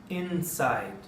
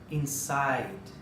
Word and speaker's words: inside: Inside. Não deve ser lida inside.